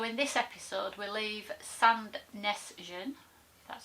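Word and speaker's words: Sandnessjøen: you were so in this episode we'll leave sand Nessun that's how you say it and we're on the scenic route number 17.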